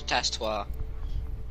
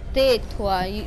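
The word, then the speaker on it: tais-toi: Tas toi or tas toi? No, not tas toi. It's te toi. The S is silent.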